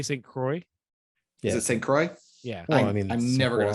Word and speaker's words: St. Croix: Is it St. Croix?